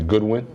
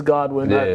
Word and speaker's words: Godwin: I spelled it wrong it should be Goodwin it's Godwin double check but not